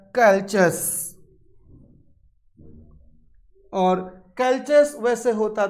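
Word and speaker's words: Calchas: कहीं कहीं आपको इसका प्रोनाउंसिएशन कैल्कस भी मिल जाएगा। कैल्चस की डॉटर है क्रेसीडा।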